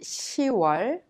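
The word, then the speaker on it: 시월: Since October is pronounced 10월, when you say October 21st, you say 10월 21일. Please remember 6월 and 10월 are differently pronounced unlike the other names of the months.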